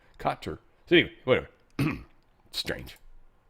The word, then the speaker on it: Qatar: Not Qatar or Carter. It's Katar. Katar.